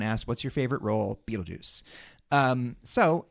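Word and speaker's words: Betelgeuse: l g e u e is spelled is pronounced Beetlejuice and that is how the character's name is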